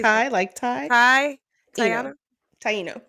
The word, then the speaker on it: Taino: Taino. Taino.